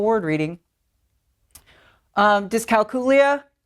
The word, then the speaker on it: dyscalculia: Um dyscalculia. Apparently I've been saying that wrong for the last 20 years so I will be learning new vocabulary myself.